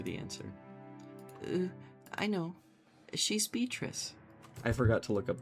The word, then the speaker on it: Beatrice: Now, Beatrice is probably common pronunciation in English. Now, in Italian, it's pronounced Beatrice.